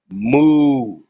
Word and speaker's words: MUU: MUU is pronounced moo.